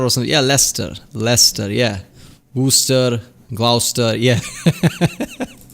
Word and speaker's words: Leicester: is it it is less than it's not less cester or something yeah lester lester yeah booster gloucester yeah leicester worcester gloucester